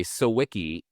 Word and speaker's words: Sawicki: Sawicki and I nickname it Sawicki-pedia. So it would because it's a good rhymes or sounds like So that's how you know how to say it. Sawicki rhymes with Wikipedia.